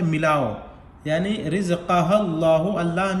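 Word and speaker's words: الله: अगर अल्लाह के लाम से पहले ज़बर या पेश हो तो अल्लाह के लाम को पुर पढ़ेंगे, तो यहाँ पर अल्लाह के लाम को पुर पढ़ेंगे कायदे के मुताबिक।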